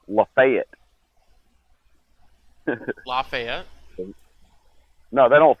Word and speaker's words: Lafayette: town where it's pronounced Lafayette. Lafayette? No, they don't say. No, we don't do that French nonsense around here. It's Lafayette.